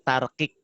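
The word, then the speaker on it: tarqiq: Tipis itu tarkik. Ingat-ingat kue kik. Tarkik.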